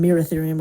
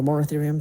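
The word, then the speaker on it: Moeritherium: Erytherium, Barytherium, Merytherium, or Moratherium, depending on how you pronounce it.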